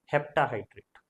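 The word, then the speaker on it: heptahydrate: होगा तो क्या बोलेंगे हेप्टा हाइड्रेट okay हेप्टा septa नहीं हेप्टा हाइड्रेट ओके फिर नेक्स्ट आपका है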